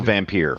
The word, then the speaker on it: Vampyr: That's pronounced also Vampire.